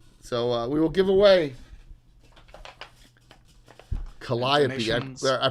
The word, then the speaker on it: Calliope: So we will give away Calliope. donations. I pronounced it correctly.